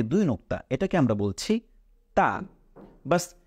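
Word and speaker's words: ت: নুক্তা এটাকে আমরা বলছি তা ব্যাস জিউভার আগাটাকে আপনি আপনার মাড়ির দাঁতের উপরের সাথে লাগিয়ে দিন উচ্চারণ করুন তা খুব সহজ এরপরে তিন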